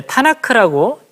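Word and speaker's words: Tanakh: 이 TNK라고 하는 것, 이것은 이제 타나크라고 읽습니다.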